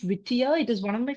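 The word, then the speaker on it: Whittier: Sorry, it's by John Green Leaf Vittier. I'm sorry if I mispronounced the name, misspelled the name earlier. So, it is by John Green Leaf Whitier.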